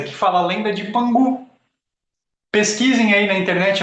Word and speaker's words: Pangu: Então, às vezes você encontra como Pangu, porque a pronúncia do G é K na China, é K, né?